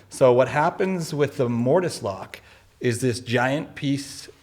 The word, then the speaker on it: mortise: It's called, they call it a mortise lock, but it's actually called a mortise lock. Mortise is just a Latin word meaning to put inside. So what happens with the mortise lock is this giant